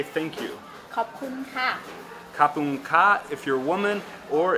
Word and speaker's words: ขอบคุณค่ะ: ขอบคุณค่ะ Kapung ka if you're a woman, or if you're a man saying it, kapung kap.